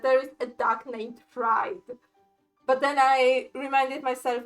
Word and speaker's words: Fried: is a duck named Fried. But then I reminded myself, wait, this is Germany. In Germany, it will be pronounced Fried, like from Friedrich. So pretty much Fred.